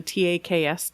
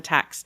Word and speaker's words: TAKS: point her kids took what this lady called the TakS test which if you were in Texas, you would call it the tax test, right?